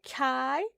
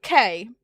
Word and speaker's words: Kay: Livia's saying hi to Kai. No, it's Kay. Kay.